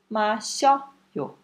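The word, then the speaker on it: 마셔요: Mas se você juntar mashi-o, mashi, o i com o, vai virar yo, certo? Mashi-o, mashoyo. Mashoyo. Mais fácil falar mashoyo do que mashi-oyo, certo? Mashida, mashoyo.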